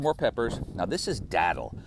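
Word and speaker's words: datil: Now, this is Dattle. It's spelled D A T I L. Uh, if if you just Google Dattle Pepper, St.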